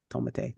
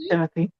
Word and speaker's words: Timothée: One movie came out now, Wonka, with Timothée Chalamet and I know that Wicked man. What did Wicked. you call him? Timothée. Timothée. Timothée. Timothée Chalamet. Timothée. Sorry, Timothée. Timothée. Oh, I thought it was Timothy.